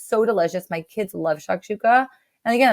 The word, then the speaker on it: shakshuka: Complete side note, but okay, I'm probably gonna pronounce it wrong. But shashuka, Oh, shakshuka. shakshuka.